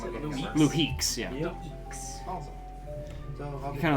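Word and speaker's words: Luhix: luek l u h iix l l or Lux oh yes I'm looking for a pretty good amount of how do you say pronounce it leeks yeah awesome kind like raises an eyebrow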